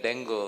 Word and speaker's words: dengue: It should be pronounced as dengue. Dengue, correct. Everybody says dengue. Dengue, but it is dengue.